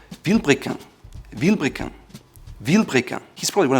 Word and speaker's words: Vilebrequin: Not Vilebrequin, it's Vilebrequin.